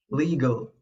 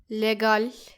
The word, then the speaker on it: legal: Now, allow me to introduce our next word, legal. Don't say it like Legal. it is actually legal. Legal. Yes, mind that E sound.